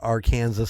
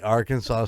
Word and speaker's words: Arkansas: guys for uh for contributing to the uh our Kanas story pronounce it right thank you guys for participating in the Arkansas stories thank you Mason for the idea thank